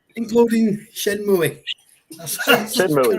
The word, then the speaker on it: Shenmue: Oh, he doesn't pronounce Enix right. Including Shenmue. That's Shenmue.